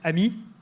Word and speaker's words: AMI: we prefer Ami and we pronounce it Amy which in French means friend I think it's appropriate